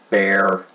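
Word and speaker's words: Bexar: because San Antonio is a swing County that's Bay our County it's not pronounced effects are its Browns bear they are bear but it's a at least it used to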